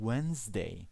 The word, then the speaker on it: Wednesday: Remember, in Wednesday, okay, the D is not being pronounced, it's silent.